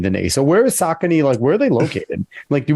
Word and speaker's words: Saucony: So the correct pronunciation is sock, S-O-C-K, and then knee, like your kneecap. Saucony. In New York, it's Saucony. Gotcha. So it's like punching a knee, Saucony.